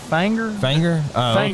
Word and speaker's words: Finger: I think you said finger. I think it's fanger.